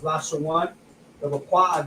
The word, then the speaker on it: Lashawan: This is how you will pronounce it: La, which is the La, the Sha, which is the Sha, and then the Wa and the Na come together, which is pronounced one. Lashawan.